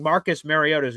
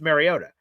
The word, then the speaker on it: Mariota: Which, by the way, I just learned that apparently we've been mispronouncing Marcus Mariota's name the entire time. I've known him as Marcus Mariota, but apparently it's Mariota.